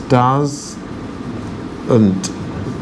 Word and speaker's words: doesn't: like this does and this is pronounced does n't dozen and that T is not very strong doesn't right do you